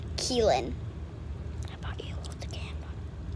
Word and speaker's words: Killen: is uh this is killen it sounds like killing what like go how it's spelled but it's keelan i thought you hold